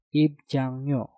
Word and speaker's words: 입장료: Jang diakhiri dengan nyeng, setelah itu diikuti kata yang diawali dengan real. Nah, yang ini juga sama, realnya kita rubah menjadi suara nyen. Dan untuk cara pengucapan keseluruhan menjadi 입장료, 입장료, 입장료.